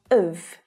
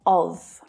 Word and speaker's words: of: Now, of is another incredibly common English word, usually unstressed, so it sounds like of, not of. Of, with the lazy schwa sound again.